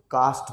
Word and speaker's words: caste: Okay, जैसे यहाँ पे देखिए CASTE, ये क्या पढ़ेंगे, इसको कास्ट पढ़ेंगे।